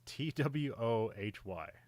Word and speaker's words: Twohy: I think it's Towie. It's Twohy.